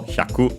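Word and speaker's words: 百: On its own, accented on the final syllable, 100.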